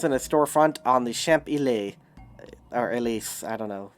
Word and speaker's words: Champs-Élysées: He placed 3 machines in a storefront on the Champs-Élysées, or Elise, I don't know how to pronounce it. Champs-Élysées.